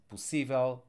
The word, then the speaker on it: possível: And by the way, we need an accent mark here because otherwise, we would need to stress the last syllable because words ending with letter L get that last syllable stressed. So without accent mark, I would pronounce this possível, visível, reversível, convertível, but with the accent mark, it makes it possível, visível, etc.